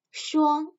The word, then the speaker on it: 双: 鞋那双鞋双 is the first tone.